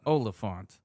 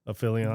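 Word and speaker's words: Olyphant: There's no I in the word though. The Y is the I. But it's Jesus, I have to teach you English? but it's before the P though. You're pronouncing it after the P.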